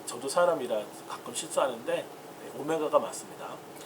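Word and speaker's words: omega: 이제 어떤 이제 학생들은 이 오메가를 W라고 읽는 분들이 있어요. W 아니에요. 이거 그리스입니다. 그리스어. 그래서 그리스어에서 우리 이것을 오메가라고 하는데, 뭐 다른 이 책들을 보게 되면 W로 표시된 것도 있어요.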